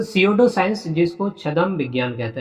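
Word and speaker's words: pseudo: Shadow science P बेटा यहां पे साइलेंट है। तो सीओडो साइंस जिसको छदम विज्ञान कहते हैं।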